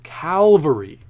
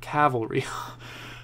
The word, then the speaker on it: Calvary: on it Oh Cowell Calvary Oh fall sticks Calvary not cavalry okay I'm sorry I kept saying that wrong Calvary did I write it for some reason I wrote it down correctly as Calvary but I was saying